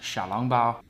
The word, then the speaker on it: xiaolongbao: Not to flex on anyone, but I took Chinese for a long time, so in Mandarin, these are pronounced xiaolongbao.